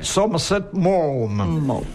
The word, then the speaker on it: Somerset Maugham: Puis on prononce, comme Castelli nous a enseigné à le faire, Somerset Maugham.